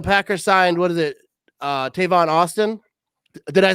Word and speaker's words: Tavon Austin: Tavon Austin?